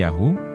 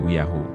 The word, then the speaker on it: Yahu: Seharusnya diucapkannya Yahu, tapi dia mengucapkannya Uyahu.